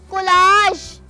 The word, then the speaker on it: collage: of pictures कहते हैं मजे की बात यह है कि इसको भी गलत प्रोनाउंस किया जाता है इसको कोलाज पढ़ते हैं जा साउंड के साथ प्रोनाउंस करते हैं जबकि इसको हम य साउंड के साथ प्रोनाउंस करें हैं कोलाज कोलाज और कॉलेज लिखते